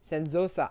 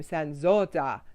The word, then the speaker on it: Sanzotta: And I'm going to try and bring Darlene uh, San, Sanzosa. I got to get her to say her name, Sanzotta.